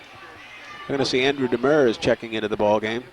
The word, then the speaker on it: Demers: We're going to see Andrew Demers checking into the ball game. I pronounce it Demers. I'll see how the officials pronounce it here. And big. Yep, Demers.